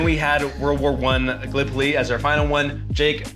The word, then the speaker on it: Gallipoli: right, because being from Iowa, I said uh Gallipoli, and it's it is pronounced Gallipoli.